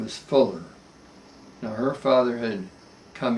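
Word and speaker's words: Pfueller: the german fueler but it's pronounced fuller and when it's americanized and so do the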